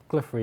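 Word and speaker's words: Glouphrie: makes sense before you've completed Grand Tree because Gluffrey is kind of like your Is it Gluffrey? Glypher.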